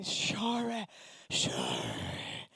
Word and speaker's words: Shomrei: Shomrei. It doesn't have like a consonant to land on. It's just Shomrei.